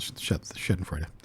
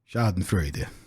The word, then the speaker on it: Schadenfreude: I'll put on the Schadenfreude. Schadenfreude.